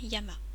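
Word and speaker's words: 山: est tout seul et la montagne Yama il peut y avoir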